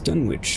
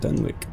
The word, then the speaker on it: Dunwich: not northwick and done which is dunwich not dunwick i had no idea